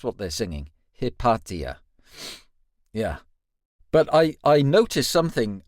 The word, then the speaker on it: Hypatia: And I think the pronunciation was Hypatia, right? That's what they're singing. Hypatia.